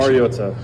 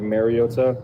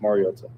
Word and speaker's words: Mariota: Like what is the right pronunciation? Mariota. Um I think it's been said over the years like Mariota. Um which is incorrect and it's pronounced Mariota.